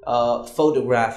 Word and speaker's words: photograph: So like in this example, you see when you say photograph, you stress on pho and not the other syllables like toe and graph.